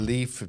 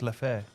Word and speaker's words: Leffe: anytime I've gone to a The Leaf beer. I think it's Leffe. Leffe. Leaf. no, it's Leffe.